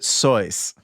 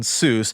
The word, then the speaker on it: Seuss: If you're calling him Seuss, he pronounces it Seuss. And I guess he reportedly switched. Did you know this? No, I have no idea. I did not know this. He reportedly switched to the anglicized pronunciation, Seuss, because it, quote, evoked a figure advantageous for an author of children's books to be associated with, Mother Goose.